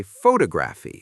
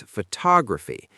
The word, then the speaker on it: photography: Lots of learners say photography, stressing the first syllable, but it's photography. The stress sits on the second syllable.